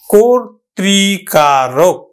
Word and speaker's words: কর্তৃকারক: তাহলে উচ্চারণটা হবে কিন্তু কোর ত্রি কা রোক, উচ্চারণ হলো কিন্তু কর্তৃকারক।